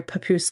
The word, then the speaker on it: Papoose: facility called S4 near Papoose Lake, which I don't know where Papoose Lake is. Maybe someone out there does. I just think the name's kind of funny because it rhymes with caboose, you know?